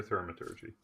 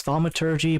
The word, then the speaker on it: thaumaturgy: I use thaumaturgy. Is it thaumaturgy or thermaturgy? It's thaumaturgy, but if you want